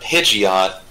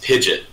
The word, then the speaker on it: Pidgeot: To give credit to Sirmina, it's not Pidgeot, it's Pidgeot.